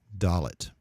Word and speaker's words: Dalet: Dalet, you see, also has a form with a dot that is pronounced the same in the case of this letter, and it's D as in door, Dalet.